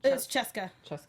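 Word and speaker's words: Sheska: and then we get how did they pronounce it in English the librarian girl that's Cusco was Cheska okay they said it more like a sh yeah yeah but yeah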